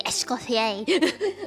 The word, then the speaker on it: Escoffier: Yeah, I call her Escoffier as a nickname instead of saying the fancy Escoffier like the French do and not pronounce their R's.